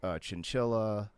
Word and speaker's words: Chinchilla: You've worked with the Big Push, Chinchilla. That's how you say her name, right? I'm saying it right. Okay. Like the animal.